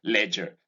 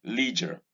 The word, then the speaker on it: leisure: This is ledger and not leisure. I hear a lot of people say leisure. Well, in any case, the pronunciation of this word in British English is ledger. Americans would say leisure. It's up to you to choose which one to use.